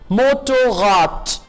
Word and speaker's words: Motorrad: Motorrad. D को T pronounce करेंगे.